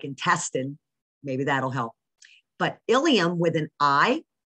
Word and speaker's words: ilium: very different meanings okay you've got ilium and ilium these are really they sound exactly alike okay so the ilium